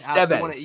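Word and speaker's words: Estévez: Estevez is Estevez. You want the emphasis there. Yes. On that syllable, right?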